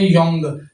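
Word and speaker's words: 영: उसे हम कहते हैं योंग। ठीक है? ये यऊ वाला वोवेल लगा है। इसकी आवाज ये साइलेंट है। ये जो है वो य वाला वोवेल लगा है और नीचे नंग योंग बना।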